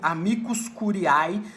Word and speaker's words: amicus curiae: o ministro relator pode admitir a figura do amicus curiae, que essa é a pronúncia correta, como nós discutimos na última aula, do amicus curiae na tramitação da ADC, para que ele possa